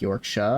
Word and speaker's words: Yorkshire: I should be fine Shire is not pronounced Shire Yorkshire would be like York sha and place like Devonshire